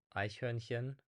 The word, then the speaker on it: Eichhörnchen: Today I will show you 5 German words that are difficult to pronounce according to my students. So word number 1 is Eichhörnchen, which means squirrel in German.